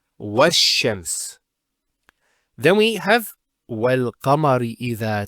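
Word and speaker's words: والشمس: Similarly, this lam is not pronounced either because, as we said, this is from the sun letters and there's a shaddah there. So it's wash-shams.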